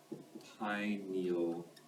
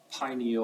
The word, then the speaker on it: pineal: um the pineal gland pineal gland g dot for gland that will always be my abbreviation pineal or pineal depending on your pronunciation pineal gland you might